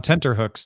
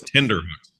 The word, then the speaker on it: tenterhooks: I always thought it was tenderhooks. Right. I always heard tenderhooks, not It's actually not. It's spelled tenter, but a lot of people think it's tender.